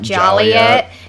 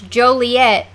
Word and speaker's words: Joliet: have Joliet and how some people call it jelly it and we're like no that's not how you say it's Joliet yeah or if you